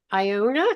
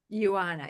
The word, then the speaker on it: Ioana: Um, Iona, did I say it right? Ioana, yes.